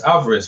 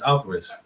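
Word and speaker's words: Álvarez: surprised yeah alvares I don't know why it's alvaris man I they call alvares see they call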